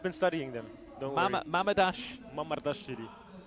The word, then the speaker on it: Mamardashvili: What a pronunciation. Yeah, I've been studying them. Don't worry. Mamardashvili. Mamardashvili.